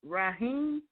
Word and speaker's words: Ragheem: And here we actually have Ragheem. I believe that's how it's pronounced. And he's actually on the line. am I pronouncing it right? Ragheem?